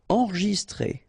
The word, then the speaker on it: enregistré: Okay, so here final E with the accent, so E. Okay. T-R E accent grave, c'est accent aigu, it's très. Alright. So enregistré. Okay, but then you don't really insist on this enregistré. Enregistré. Détendu.